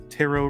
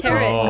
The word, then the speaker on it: tarot: and I can do tarot readings for them. I honestly cool. didn't know that the second T was silent until you just pronounced it.